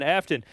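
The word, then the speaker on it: Aftyn: AFT YN. Afton.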